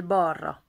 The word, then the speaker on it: balra: Menjél balra. Menjél balra. Menjél balra. Menjél balra. Menjél balra. Super difficile à prononcer en fait le L et un R après. Balra.